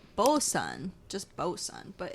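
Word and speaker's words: boatswain: a little pronunciation guide down here it says botson but it's spelled bosan just bosan but it's spelled bat Swain it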